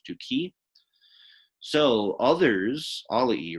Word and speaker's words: duci: It's not duceri. It's just duki.